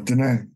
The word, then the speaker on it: Diné: Is that how you pronounce it? Yeah, Diné.